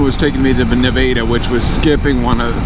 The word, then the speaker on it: Nevada: turns out if you're from Ohio it's not Nevada it's Nevada so my government was taking me to the Nevada which was skipping one of skipping my own